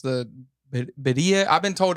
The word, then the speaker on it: birria: pronunciation, but pronounce the Beria. I've been told it's Beria. I've been told it's Beria. I don't know what is it. So you gotta get your R. Yeah, I definitely have to roll it.